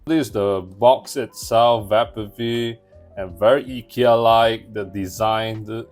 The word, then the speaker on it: Vappeby: Yeah, it is called Vappeby according to Google Translation. That's how Google taught me how to pronounce this word.